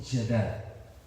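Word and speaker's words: יד: Esta palabra deriva del verbo yadar, el cual significa dar o exaltar, dar gracias o exaltar. La raíz de yadad es yad. Estoy pronunciando como se pronuncia en hebreo.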